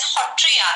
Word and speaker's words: Sattriya: today is origin and tradition of Satriya. We call Satriya as Hotriya. Sa we pronounce as Ho.